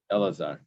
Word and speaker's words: Elazar: There's a difference here. Eliezer or Elazar? Elazar. Elazar, right. Yeah, the down one.